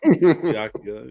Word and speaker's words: Byakuya: Oh yeah, that's obviously the way it's pronounced. Come on, John. Byakuya.